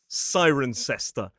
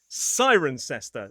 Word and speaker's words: Cirencester: So while we have Leester, Glouester, and Worcester, up pops Sirencester. Sirencester, but the vast majority of examples of this suffix are pronounced.